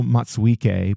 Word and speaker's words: Matsuike: We usually hear it pronounced Rino Matsuki, but on the live streams, I heard it three different ways too. So I'm going to say Matsuike, and hopefully that'll be correct.